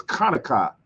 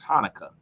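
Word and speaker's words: Hanukkah: the same thing where in the Hebrew it's kanaka but in English they just say make it easier for to pronounce Hanukah it sounds smooth Hanukah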